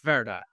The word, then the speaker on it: Wrede: And I guess like William Rede, or however you pronounce his last name, I always Ver again. Verda. It's Verda? Wrede. Yeah, So Verda.